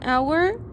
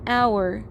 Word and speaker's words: hour: the meaning of silent the H doesn't sound our okay it's not horror it's our one hour it's a silent age we have an hour and even though H